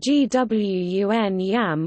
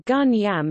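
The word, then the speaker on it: 觀音: The name is pronounced Gwun Yam or Gun Yam in Cantonese Chinese, also written as Kwun Yam in Hong Kong or Kunai Am in Macau.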